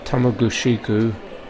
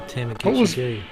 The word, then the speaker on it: Tamagushiku: How do you pronounce that name, John? Tamagushiku. Jesus, that's good. Yeah, the only one who's got it correct. We were Tamaguchi.